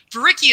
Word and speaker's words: Vereecke: And anyway, Varicki is spelled Vereecke, so it's long.